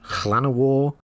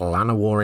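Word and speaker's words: Llanowar: I'm relatively certain the correct pronunciation is Clanner War in the Welsh way, but I don't have a Welsh tongue, so I will occasionally just pronounce it Lanner War instead.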